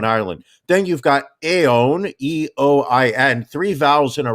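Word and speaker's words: Eoin: one show in ireland then you've got a own e-o-i-n three vowels in a row always going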